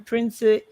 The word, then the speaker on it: Principe: Karen Principe, and that's how to pronounce the surname, is leading at 41%.